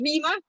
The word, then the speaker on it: Rima: Rima, is that how you pronounce it? That's correct. It's Rima.